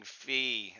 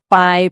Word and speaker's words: Phi: It's your buddy Phi, who you keep pronouncing Fee. I told you don't use the Greek pronunciation, use the American version. Right, right. Fi, my apologies.